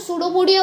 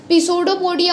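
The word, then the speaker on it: pseudopodia: तो ये जो सूडोपोडिया वर्ड होता है ना, इसमें पी जो होता है वो साइलेंट होता है, मतलब ऐसे वो पिसोडोपोडिया होता है बट उसमें ये जो पी होता है वो साइलेंट होता है।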